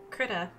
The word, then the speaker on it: Krita: Speaking of art, I attempted to use Krita. I don't know how to say this. We'll just say it's like Critter, but Krita.